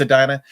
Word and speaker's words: Edina: Is it Edina or Edina? How do they pronounce it? It's Edina.